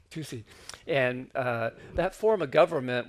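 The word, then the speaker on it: 土司: will, and it was called Tusei. Did I pronounce that right? Right, Tusei. Tusei.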